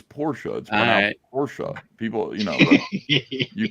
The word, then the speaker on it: Porsche: that's right that's correct the e at the end in German it's not you know so I you know here it is automobile manufacturer sounds like Porsche Porsche oh thank you and